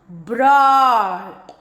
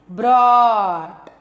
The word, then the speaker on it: broad: Underline the letters that make a long O sound and practice the words. Broad. So, O-U. Okay? Broad.